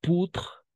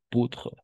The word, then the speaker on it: poudre: C'est du chocolat en poutre, o U, siempre va a ser U para nosotros. Entonces aquí sería poutre, d'accord? Poutre, hasta la D, hasta la R, porque la E no se pronuncia.